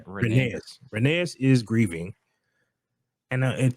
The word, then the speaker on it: Rhaenys: Renee.